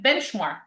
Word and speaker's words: benchmark: So a word like benchmark. Benchmark. Where is the stress? More benchmark. Benchmark or say benchmark. Benchmark. What did I think the first syllable? The first because it's a compound noun.